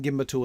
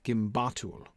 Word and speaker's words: gimbatul: In fact, that pattern, Catriona, would also suggest that the stress should fall on the second syllable. Ashk, naz, gimbatul.